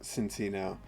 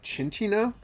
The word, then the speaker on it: Cinccino: that uh card name there's no h in that name so I don't know why it would be called chin Chino uh uh and so